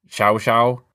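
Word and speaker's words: 曹操: pronunciation of Chinese names a name I'm gonna have to say a lot is Chao Chao CA o repeated twice I think it's supposed to be a kind of T and s combined sound at the beginning but I'm sure I'm butchering it every time when we last left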